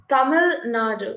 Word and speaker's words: Tamil Nadu: Am I pronouncing correctly? Tamil Nadu, is that? Yes, it's Tamil Nadu.